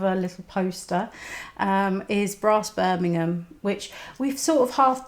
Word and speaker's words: Birmingham: And yes, Birmingham. That's how it's pronounced. Birmingham.